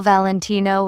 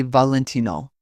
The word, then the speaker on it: Valentino: People often call Valentino with stress on the no. Italians say Valentino.